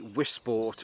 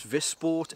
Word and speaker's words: Wisport: from the Polish company wisport or I guess it would probably be pronounce vport as it's a Polish company I hope they don't